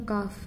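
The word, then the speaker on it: ك: I have left out Kaf out. It's pronounced as Kaf.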